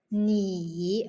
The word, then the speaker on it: 你: The first character is 你,你, third tone, 你你 okay, do the tone gesture. 你 okay, third tone.